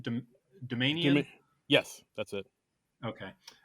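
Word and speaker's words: Doumanian: The Gene, how do you pronounce her last name? Do you Domanian.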